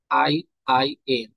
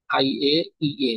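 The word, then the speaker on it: IAEA: আই আই এ। পারমাণবিক তদারকি, পারমাণবিক তদারকিতে থাকে হচ্ছে এই সংস্থা দ্বারা, আই আই এ। এটা আই এ ই এ, sorry এটা ভুল হবে, এটা উচ্চারণ হবে আই এ ই এ।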